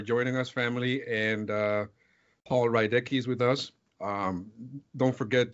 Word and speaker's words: Rydecki: How do you pronounce it, Pastor? Rydecki.